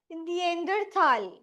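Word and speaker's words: Neanderthal: Read किया जाता है देंद्रथाल कुछ-कुछ प्लेसेस पे कुछ रीजंस में एच को नहीं साउंड करतेल इस तरह बोलते हैं इसका मीनिंग है द होमोसेपियंस जो ह्यूमन बीइंग्स हैं।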